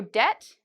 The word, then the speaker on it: debt: There are always exceptions to this rule, but in general, if you see B and T, usually you do not pronounce the B. Okay. So debt, I've heard many students